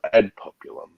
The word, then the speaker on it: ad populum: Ad populum.